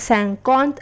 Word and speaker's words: cinquante: 50, which is pronounced as Cinquante and is written as CENQURNTA.